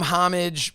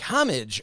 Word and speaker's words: homage: you call them homage you pronounce the h so we've been calling them homage because we couldn't figure